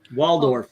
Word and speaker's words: Waldorf: damn it now I said it wrong WF Waldorf yeah they're perfect they're taped up y uh